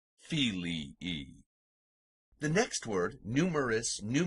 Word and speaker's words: filii: two syllables separated by a while and it's pronounced fili II the next word numerous new Murray masculine meaning